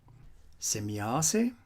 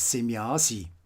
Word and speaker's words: Semjase: in ancient times here on earth by extraterrestrials semiasse is a name that is frequently mispronounced as semiyasi and as you can read here you will